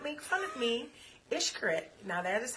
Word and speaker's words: Xcaret: Xcaret. Now, that is how it's pronounced.